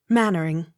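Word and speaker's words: Mainwaring: l-y-v-e-d-o-n livedon m-a-c-n-a-m-a-r-a mcnamara accent on third syllable m a i n w a r i n g mannering m a j o r i b a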